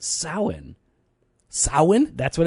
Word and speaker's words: Samhain: I went to school with a guy named Sam Hain, I think. But it's pronounced Samhain.